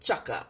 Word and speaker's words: T'Chaka: And T'Chaka, or Chaka, it's ja sound.